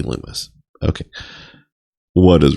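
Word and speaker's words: Lummis: being senator lumus loomis it's spelled like lummus but it's gotta be loomis okay what is wrong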